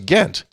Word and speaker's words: Ghent: See, Belgium, it's Ghent.